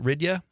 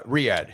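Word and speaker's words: Riyadh: Is it Riya? Uh Riad. Riad.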